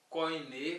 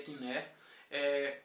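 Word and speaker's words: κοινή: a pronúncia do grego koiné, como alguns chamam, que na verdade é kiné.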